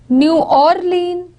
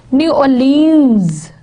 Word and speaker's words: New Orleans: In New Orleans, Orleans, Americans would be putting stress over here, New Orleans, whereas Britishers would be putting on it on the last syllable, New Orleans.